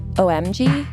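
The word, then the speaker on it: O'Emge: around her um her last name is OMG but as it is a traditional Irish name it is spelled o apostrophe e m g e and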